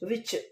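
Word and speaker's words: which: Next one வ இச் விச் D silent year வ இச் விச் D silent year stretch also like that இந்த மூணு லெட்டரையும் பிளெண்ட் பண்ணி படிச்சுக்கலாம்.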